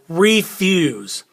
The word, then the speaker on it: refuse: loudest or the highest like refuse refuse can you hear how re is higher use is lower or there's more in stress on the first one and less on the second one okay so let's